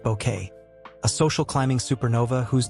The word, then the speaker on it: Bucket: Patricia as hiestin bucket pronounced bouquet a social climbing supernova whose delusions of grandeur drew 20 million viewers.